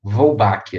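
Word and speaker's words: Wolbachia: homenagem a alguém sobrenome polpa é então vai pronunciar volbak a outra difícil da biologia que aparece né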